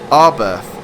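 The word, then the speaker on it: Arberth: Its Welsh name is easy to pronounce, Arbirth. No N at the beginning.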